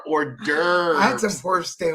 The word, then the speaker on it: hors d'oeuvres: But I like Sorry, I said, I love saying it like most Americans would say it when they see how it's spelled. Whores, they overs. I'm like, they are not a whore's ovaries. They are hors d'oeuvres.